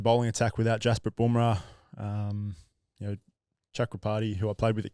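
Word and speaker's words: Chakravarthy: Pronounce it. He's a teammate of Starkey's. Chakrabarti, there you go.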